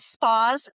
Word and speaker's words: Espaws: You did. Spaws Family Wellness. Spaws Family a spa, but with a paw.